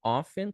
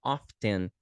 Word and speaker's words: often: often lembra que o often pode ser pronunciado tanto often quanto often dá na mesma é a mesma a mesma palavra só que às vezes pronunciadas de diferente duas formas often dá uma ideia